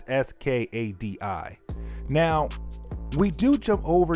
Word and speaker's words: Skadi: I cannot pronounce the name. It's Skadi.